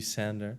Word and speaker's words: Sander: do it doesn't matter if you pronounce it kind of English then it's gonna be sander sanders and that's also how